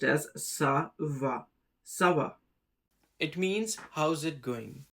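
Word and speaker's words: ça va: The first is a very common one and it is pronounced as savva sava. It means how's it going. If you remove the si it becomes kava kava which has no meaning.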